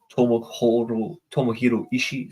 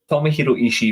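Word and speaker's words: Tomohiro Ishii: Talent so you've got the storm pit bull Toma hero ishi sorry my apologies long day at work long day at work and pronouncing names is never good when you're exhausted well again tomihiro ishi versus Luke Jacobs strong this is a strong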